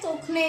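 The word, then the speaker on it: tourner: टर्न को बोलते हैं तुखने।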